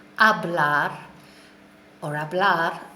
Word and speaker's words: habla: is able H ABL remember we don't pronounce the H's in Spanish that's why we say a blog or habla not a hablar so